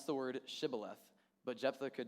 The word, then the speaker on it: Shibboleth: So they told him to pronounce the word Shibboleth, but Jephthah could not, and instead said Sibboleth.